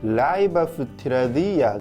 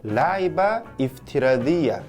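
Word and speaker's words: لعبة افتراضية: 그리고 라이바 프티라디야, 이 단어가 가상게임이라는 뜻인데요. 이프티라드는 파령 동명사에서 형용사 형태로 만들어준 것이기 때문에 이 알리프가 연음되는 함자입니다. 그래서 발음을 하실 때 라이바 이프티라디야 이렇게 함자 발음을 살려서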